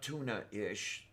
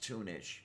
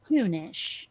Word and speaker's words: tunish: Okay, So not tuna-ish, just tune-ish. I said tunish.